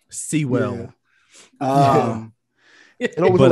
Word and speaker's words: Sewell: uh a town called seoul new jersey it's it's not pronounced how it's spelled it's like see well um it wasn't like sewer but uh sewell new jersey i was